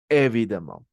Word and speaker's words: évidemment: numéro 3 qui dit évident l'adverbe des manières comment oui évidemment ok donc là ça